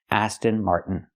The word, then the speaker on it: Aston Martin: to the End Mart this is the most common way to pronounce It in America Aston Martin not Aston Martin Aston